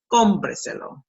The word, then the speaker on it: Cómpreselo: We count 1, 2, 3, and 4 syllables in this case. Cómpreselo, see? Cómpreselo. Mark the accent.